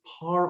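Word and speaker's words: Parr: let you guys know it is par auto body not par auto body the extra r is silent it is not a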